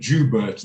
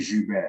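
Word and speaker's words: Joubert: understand I don't care it's like saying jubert instead of Jew bear as long as I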